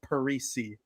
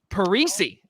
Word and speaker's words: Parise: get me and zach's name wrong we actually pronounce it the same but not a lot of people realize it it's parisi parisi oh well okay well now first just to